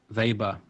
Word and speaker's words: Weber: a guy called Max vber or Max Weber if you want to give it the English pronunciation who was a German